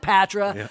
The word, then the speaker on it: Patra: with John Simpson the co-founder and CEO of patre corporation I called it Patra I'm sorry about that and I mispronounced your name how do you miss promote